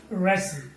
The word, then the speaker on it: wrestle: wreck wrath right and wrestle okay wrestling yo here letter t is also silence okay so when wing